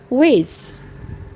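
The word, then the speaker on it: wheeze: आवाज़ से सांस लेना या जैसे खरखर की आवाज़ आती है, खरखर करना, उसको कहते हैं वेज, वेज। क्या कहते हैं? वेज, वेज। एच साइलेंट है।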